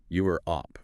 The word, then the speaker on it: Europe: The guide specifies the correct pronunciation is 2 syllables. Europe. Europe, not Europe, with Oh. that extra sound in the middle. Exactly. It's a very common, subtle mistake. Focusing on that clean 2-syllable Europe just makes you sound clearer and more confident from the very start.